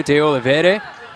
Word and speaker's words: de Oliveira: So de Oliveira, got to roll the R's.